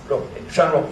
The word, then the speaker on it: San Roque: And that's the way you pronounce it? San Roque. San Roque, thank you.